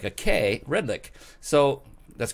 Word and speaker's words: Redlich: show or you can just google him Redlich you can see the spelling on the screen right now with re d li CH even though it's pronounced like a que red lick so that's correct yes being a show host